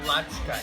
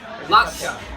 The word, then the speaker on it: Ladska: Latska. Yeah, I'll say what it is. But anyway, Keoki was there. Rhymes with vodka.